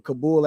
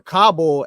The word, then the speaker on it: Kabul: And uh me reading the Bible at 20 years old in Kabul, Afghanistan or Kabell, Afghanistan. People pronounce it different ways.